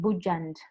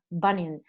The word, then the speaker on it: Bunyan: And I said it wrong because I said Bujand. Bueno, horrible. It's not Bujand, it's Bunyan.